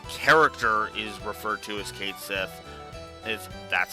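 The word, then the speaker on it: Cait Sith: let's explain myself and yes I pronounce it Kate Seth if they pronounce it cat CI in in rebirth I will try to adjust my pronunciation accordingly for now the character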